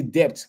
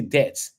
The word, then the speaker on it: debt: But the B is silent. Okay. We don't say depth, but we say debt, right?